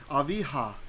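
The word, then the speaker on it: אביה: So when it has a vowel under it, then it can just be a normal hey. Aviha, right? Because you still hear the you still hear the H sound.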